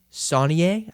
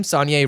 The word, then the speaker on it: Saulnier: Green Room is a horror thriller film that came out in 2015 and is written and directed by Jeremy Saulnier, I think is how you pronounce it, and it's distributed by A24.